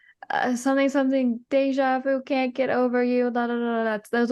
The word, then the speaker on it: déjà vu: know um more about deja vu because it's a French word it's technically pronounced Deja Vu and um what is